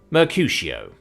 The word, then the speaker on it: Mercutio: It's pronounced Mercutio.